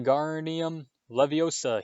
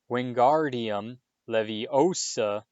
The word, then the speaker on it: Wingardium Leviosa: having much luck when garnium leviosa he shouted waving his long arms like a windmill you're saying it wrong harry heard hemani snap it's wingardium leviosa making the gar nice and long you do it then